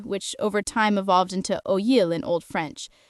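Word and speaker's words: oïl: over time evolved into oyil in Old French. Ask someone in northern France back then and they would say oyil. Over time, northern pronunciation transformed oyil into today's oui, while in southern France,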